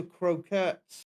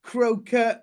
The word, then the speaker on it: croquette: we'd call them potato croquettes. Why? You don't hit them with a club? You could. I mean, Croquette, not croquet.